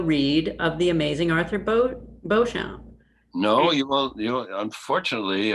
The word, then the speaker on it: Beauchamp: of the amazing Arthur Beauchamp. No, you will. Unfortunately, Arthur Beecham is. Now, by the way, that's the pronunciation he prefers, the Old English, Saxon way.